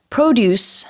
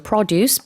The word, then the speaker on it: produce: 이걸 다 통틀어서 produce 아니면 produce, P-R-O-D-U-Ce인데요. 이 명사할 때는요, 강세가 앞에 있습니다.